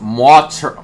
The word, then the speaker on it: martyr: It's pronounced martyr. Excuse me, martyr.